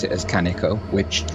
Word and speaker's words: Kaneko: drama queen so it's Kanaka and I most often pronounce it as Kanaka which has a bit too much texture in it because I'm Welsh and I go up and down a lot and the stress on